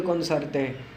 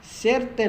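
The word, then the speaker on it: conocerte: इनकंतादो दे कोनोसर्ते, इनकंतादो दे कोनोसर्ते। सेरते नहीं कहना, क्योंकि यहाँ पर आपने इनके जो आवाज़ें हैं वो ख्याल करके प्रोनाउंस करना है। इसके लिए आप हमारा पिछला जो लेसन है वो देख सकते हैं।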